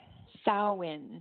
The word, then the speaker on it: Samhain: Sow-in is how it's pronounced.